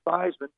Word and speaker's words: Theismann: I was in college my last name was change from seasman to fman to rhyme with the trophy to try and get